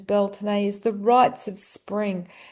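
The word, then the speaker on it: Beltane: the Beltton or Sain full moon belt um which many pronounce as Belain but the Gaelic pronunciation is Beltune is the rights of spring.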